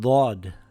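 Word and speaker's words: ضاد: The closest letter would be the letter D and the letter dal, but it is pronounced heavy. The sound also comes from the back of the mouth.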